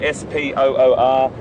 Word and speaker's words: spoor: It's an Afrikaans word, S-P-O-O-R, pronounced spoor, and a really important word that we, it doesn't have to be just tracks or footprints.